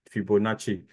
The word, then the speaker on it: Fibonacci: you said Fibonacci yeah so it's Fibonacci is is like is Italian anyway so it's a Chan for the CCI at the end Fibonacci see yeah so please